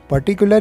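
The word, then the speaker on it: particular: और कैसे खाना है पर्टिकुलर के प्रोनंसिएशन में आप गौर करें कि जो पहला आर है वह साइलेंट है सुरेश तीसरी क्लास का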